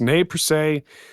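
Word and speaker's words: Nez Perce: So again, that system, I will spell it for you guys. NEZ space PERCE, pronounced ne per se.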